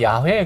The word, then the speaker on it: 야훼: 그래서 우리가 여호와 야훼 그러잖아요. 어떤 게 맞아요? 둘 다. 둘 다?